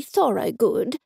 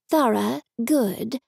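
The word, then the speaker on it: Thorgood: is James and Jenny Thor good she concluded ignoring all six of them saying that we had already met I'm sorry it's Thor good Jenny said it's pronounced thorough good mom rounded on her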